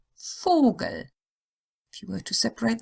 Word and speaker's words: Vogel: The O sound is long when it's followed by a single consonant that would belong to the next syllable if separated. Vogel.